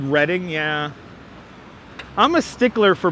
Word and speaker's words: Reading: Oh, you happy I said Reading? Yeah. I'm a stickler for pronouncing places correctly.